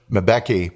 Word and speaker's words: Mbeki: 1999 to 2008 during the presidency of, I'll mispronounce his first name, Thabo Mbeki. Sure. Mbeki, that's it, Mbeki.